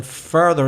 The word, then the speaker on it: further: changes a lot so in further it's the er sound further and in funnier it's the uh sound like like up funnier yeah this is perfect